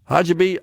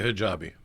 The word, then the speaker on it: hijabi: Red state Mississippi just appointed America's first Yemeni Sharia Hajib. I don't know if I pronounced that correctly or not. Judge the user claim Sharia hijabi. Hijabi. Okay. I accented the wrong syllable there. Hajjabi.